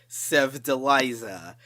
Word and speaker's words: Sevdaliza: This one is pronounced Sevdaliza, coming in with track number 23.